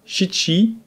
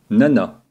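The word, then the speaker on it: 七: Pour 7, on dira shichi ou nana.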